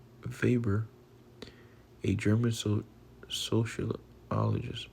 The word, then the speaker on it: Weber: Weber pronounced Vber a German so social socologist a German sociologist and economist promoted the pyramid-shaped organizational structure that became popular in large firms.